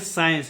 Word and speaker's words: science: उसी प्रकार से देखिए फिर एस के बाद सी आया है तो क्या होगा? सी साइलेंट होगा, ठीक है। इसको पढ़ेंगे साइंस, इसका उच्चारण होता है